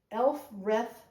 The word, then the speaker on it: Elfreth: And it's, I'm going to say it correctly, Elfreth Alley.